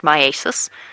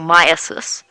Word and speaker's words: myiasis: bit more information about, I think it's pronounced myiasis, or myiasis, and that is the infection of a living organism by fly larvae.